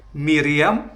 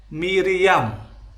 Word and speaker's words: Miriam: Nama wanita tersebut tercatat dan diucapkan sebagai Miriam atau Miriam.